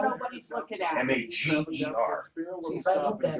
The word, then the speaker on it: Mager: It's Mager. M-A-G-E-R is Mager.